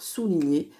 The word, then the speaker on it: souligner: Je vous dis, il y a la syllabe sous, la syllabe li et la syllabe nier. Le nier, il va être par ici. Souligner. C'est parti. Le S qui fait comme dans serpent. Ensuite, on a le OU au U. Pas de piège pour la syllabe li. Ensuite, on a notre fameux son ni, le G et le N.